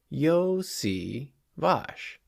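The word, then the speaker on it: Iosivas: number 80 Andre yoshivash say it with me yo C vosh Yoshi wash I know I was like 50 50 on getting the pronunciation correct last episode so I'm going to try very hard yo SI vosh it's not that hard okay uh we also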